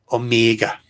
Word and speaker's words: Omega: Omega. Like it's the longest E ever.